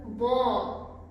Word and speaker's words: bom: This is called bom. Bom with a nasal sound, okay?